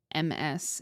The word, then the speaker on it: Ms: Well, so I just said it, but Miss is pronounced as it looks. Miss. But MS is pronounced Ms.